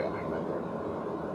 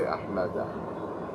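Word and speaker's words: أحمدَ: If this word was not غير منصرف, how would we pronounce it? The Ahmadin. But we don't say Ahmadin. We say Ahmada.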